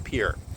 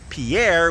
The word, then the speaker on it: Pierre: Leafra as opposed to Pierre which is pronounced pier with a faulty English accent.